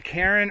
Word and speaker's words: Karen: And the person is Karen, as in two syllables.